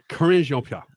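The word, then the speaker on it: Karine Jean-Pierre: Corinne Jean-Pierre.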